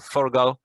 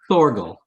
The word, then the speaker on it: Thorgal: But yes, for our English-speaking listeners, it is Thorgal. Thorgal.